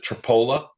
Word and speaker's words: Tripoli: There's another Iowa town spelled like Tripoli, but we pronounce it Tripola.